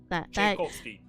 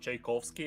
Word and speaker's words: Tchaikovsky: And I wanted to ask you how do you pronounce it actually because it's Tchaikovsky. Tchaikovsky.